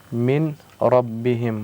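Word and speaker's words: مِن رَبِّهِم: Min rabbihim. What is the rule here? After nun sakin came the letter ra. So what is the rule here? The noon is silent.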